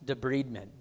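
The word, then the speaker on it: debridement: it's called debent it's spelled debridment but it's pronounced debent d b r i d me n t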